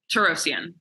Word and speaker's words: Torosyan: right and then your last how do you pronounce your last name turossians I said it right right yeah you said